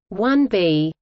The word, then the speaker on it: Saturn IB: The Saturn IB, pronounced 1B, also known as the